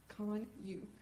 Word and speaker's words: Kanuch: We're here today because someone killed my son, Austin Kanuch, and the correct pronunciation of his name is Kanuch, like C-O-N-Y-U.